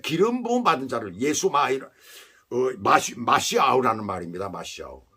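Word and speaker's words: משיח: 히브리어로는 마시아우예요. 그런데 메시아라고 얘기를 하죠. 헬라어로 그렇게 얘기를 할 수가 있죠. 이름 속에 말씀을 의지한 신앙. 헬라식 발음으로 그렇게 메시아라고 이렇게 발음을 합니다. 그런데 사실은 마시아우라는 말이에요.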